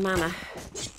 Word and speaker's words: mana: I'm running low on mana. It's pronounced mana, actually.